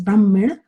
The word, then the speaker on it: Brahmin: which means Supreme reality this is Brahmin b r hm n or the Sanskrit pronunciation is Brahmin and this Brahmin is